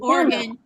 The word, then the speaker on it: Oregon: Just Shelby says it's Oregon. Yes, the way you said it, Katie, emphasis is on the first syllable.